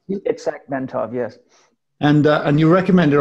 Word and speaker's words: Itzhak Bentov: Is that probably the best way to pronounce it? Itzhak Bentov, yes.